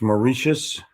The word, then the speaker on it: Mauritius: can find that real quick i'm tired of mispronouncing stuff um uh it's mauritius he sent me this thing but i don't